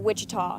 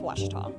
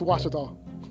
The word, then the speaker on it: Ouachita: texas everybody pronounces it wichita but really it's ouachita washington washington how would you pronounce it baptist university get it right it's watertall people it's watch it all wash your tongue in